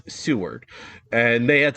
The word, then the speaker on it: Seward: Alaska reach out and say very nicely I pronounced seawword wrong it's Seward and they had said that uh pretty close